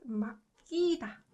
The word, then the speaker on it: 맡기다: So this word, this verb, 으끄, it should provide more emphasis on 기역 sound, right? So it's pronounced 맡기다.